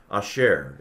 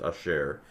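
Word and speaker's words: אשר: Asher is how this is pronounced. Asher, which means which or that.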